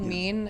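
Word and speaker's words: Mien: It's called Mean. It's spelled M-I-E-N.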